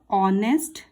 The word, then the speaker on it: honest: start करते हैं द ऑनेस्ट king इसे नेस्ट नहीं पढ़ेंगे इसे ऑनेस्ट यहां पर H silent ऑनेस्ट king ऑनेस्ट माने मतलब